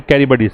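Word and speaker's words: Charybdis: Idioms पूछे आपसे, between सीला एंड कैरिबडिस, इसका प्रोनाउंसिएशन बता देता हूं, सीला एंड कैरिबडिस।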